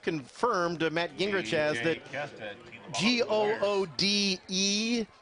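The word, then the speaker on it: Goode: Matt Gingrich has that g-o-o-d-e is pronounced good good is the proper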